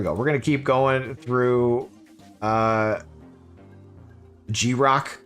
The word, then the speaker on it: Grok: We're going to keep going through G-Rock. Is it Grok? G-Rock? I don't even know. Grok. Let's ask the bot. How do you say that name? Grok. Grok. I was right.